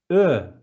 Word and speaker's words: Ö: And the next one is a thinner version of O, Ö, as in urge, Ö.